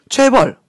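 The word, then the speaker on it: chaebol: 영어 사전에서 재벌 찾아보면요. 최발 스펠링 ch A B O 한국말 재벌을 영어식으로 발음해 놓은 거죠.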